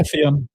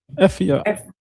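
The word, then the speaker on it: Eifert: Obviously, the Bivol fight that the Bivol and um his opponent, I don't know the pronunciation of his name. I won't say Michael Effe on. Effe on.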